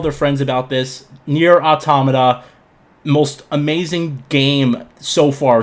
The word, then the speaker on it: Automata: And for God's sakes, it's pronounced automata, not automata, not automata.